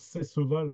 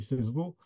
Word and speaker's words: Cesseval: il décédera à cesseval je prononce cesseval comme un je dirais un méridional liqueur dis sesevau euh donc en le